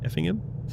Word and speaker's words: Effingham: Effingham. Effingham, yeah. Effingham. Like the the um What's it called? Like the the strong part of the word, it's uh the first part. So, Effingham. Effingham. Got it. Effingham, yeah.